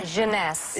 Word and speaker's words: Jeunesse: called instantly 8 ageless what's the company honey pronounce the Jeunesse Jeunesse sweareth maker and it's less than $75